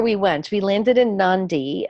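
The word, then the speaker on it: Nadi: went we landed in Nandi in the Fijian language adea's pronounced like an ND so we landed in Nandi and then we took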